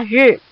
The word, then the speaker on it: 日: Satu lagi bacanya adalah ri.